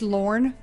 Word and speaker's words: Lorne: Well, it's pronounced Lorne.